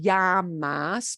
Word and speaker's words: llamas: Como, not como te llamas, but como te llamas. And it's a very soft J combined with the y. That's also acceptable.